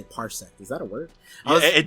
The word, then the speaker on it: parsec: What's parsect mean? That's not a word, right? Okay, parsec.